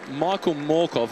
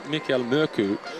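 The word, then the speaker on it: Michael Mørkøv: It's been really intriguing hearing Michael Morkov, or Mikkel Mørku, and he says the Danish pronunciation, but he's more than happy to go with the anglicised version in the English language.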